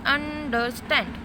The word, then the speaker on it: understand: When you pronounce understand, stand requires more stressed rather than and der.